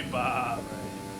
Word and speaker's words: Bahrain: I don't race Bahrain That's in the day.